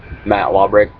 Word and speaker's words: Lobberecht: It's Lawbrick. My last name is spelled Lobberecht.